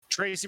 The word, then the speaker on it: Trese: do as a something for the fans Tracy Brothers won't be considering an epic exclusive read